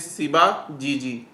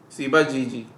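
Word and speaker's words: Ciba-Geigy: So it pronunciation is Siba GG. Okay. Siba GG.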